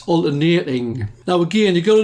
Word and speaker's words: alternating: Now, when students get the name wrong, what they do is they call it alternate current. That's wrong. It's alternating.